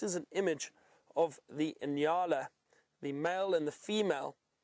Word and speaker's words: nyala: And there's another species of antelope we find in this area known as the Inyala. That is spelt N-Y-A-L-A, Inyala.